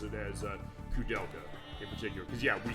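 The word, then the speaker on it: Koudelka: Actually, the first one that Cudela, that's how it's pronounced. I pro pronounce it code delka.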